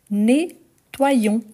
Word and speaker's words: nettoyons: donc on aura nous nettoyons nettoyons observez bien les la prononciation net toi O + i ion i plus on une